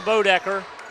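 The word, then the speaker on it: Boedecker: No, it's B-O-E. It's got to be Bodecker.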